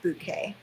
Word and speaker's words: Bucket: And bouquet is spelled like bucket, but she makes sure that everybody knows it's pronounced bouquet.